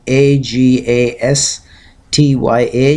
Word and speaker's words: Agastya: his name you know if you write agas tya you can pronounce it correctly Agastya straight stage Agastya and